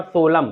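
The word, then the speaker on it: solemn: यहां पर जो होगा एम के बाद एन आए तो यहां पर एन जो होगा साइलेंट होगा और यहां पर सोलम सोलम का मतलब होता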